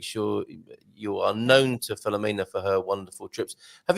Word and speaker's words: Filomena: And Filomena, yes. And she's right. The accent is on M-E, Filomena. Filomena.